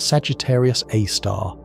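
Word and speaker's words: Sagittarius A*: It is called Sagittarius AAR, pronounced Sagittarius Aar, and it has a mass approximately 4 million times that of the sun. Despite this enormous mass, Sagittarius A star is currently in a relatively quiet state.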